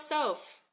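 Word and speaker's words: סוף: to do the rest yes yes yes it's sof sof sof Okay so we've got our circular s s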